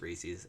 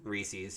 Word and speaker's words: Reese's: Reese's. And I say Reese's. I know it's wrong. It's but 100. It's 100% Reese's because it has to rhyme with Pieces.